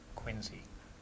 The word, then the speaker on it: Quincy: uh Quincy Quarry right down here it's actually Quincy Quincy Quincy that's what they made sure that everybody said that's how they pronounce it that's that's how Emma would say